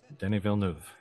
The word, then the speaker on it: Denis Villeneuve: Oh, Denis Villeneuve. Oh, you got it right this time. Denis Villeneuve.